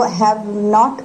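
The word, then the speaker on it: haven't: अब देखो हैव नॉट को मैंने हैवेंट भी नहीं करा, हैवन कर दिया। सो वो धीरे धीरे प्रोनाउंसिएशन फ्लुएंसी के थ्रू आता है, हैवन।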